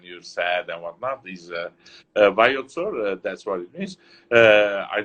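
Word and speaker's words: Vayots Dzor: Tell me how to pronounce that. Bayot Zor.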